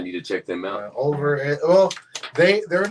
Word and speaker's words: Ulver: Yeah, it's ULVER. It's like Over. It's like Norwegian. It's Norwegian. For a wolf. I need to check them out. Over.